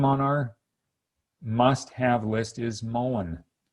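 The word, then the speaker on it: mullein: our must-have list is mullen or some people pronounce it moline m-u-l-l-e-i-n you can do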